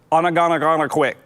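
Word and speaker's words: Ogunquit: Onagana quit. Quit. Onagana quit. It's so nervous. It makes me nervous. O-G-O-N, quit. Beach. No, you can't sound it out. Okay, Onagana quit. I'm gonna quit. Onagana quit.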